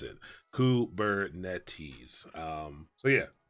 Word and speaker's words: Kubernetes: this how you this is how you phonetically pronounce it kubernetes so yeah kubernetes but it is a greek word and i